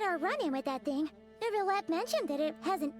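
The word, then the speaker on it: Neuvillette: I was so hoping that New Paimon would pronounce Neverlet correctly. Every time I hear Nervalet, it makes me want to eat glass.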